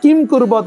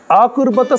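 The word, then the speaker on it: किमकुर्वत: পান্ডবাসচৈব কিম অকবত Sanjay অনেক কিম কুরবত আছে অনেক উচ্চারণ ভুল করে দেয় কিম কুরবত সঞ্জয় বলে দেয় সন্ধি সংযুক্ত করা আছে সন্ধিটা ভাঙলে হবে কি আকুরবত সঞ্জয় সঞ্জয় তুমি একটু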